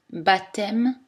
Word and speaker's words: baptême: les prononcer sans aspirer attention la lettre b n'est pas prononcé dans les mots comptés baptême sculpté et tous leurs dérivés